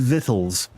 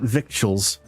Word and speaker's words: victuals: By the way, it's pronounced vithl, not victuals. Vitals.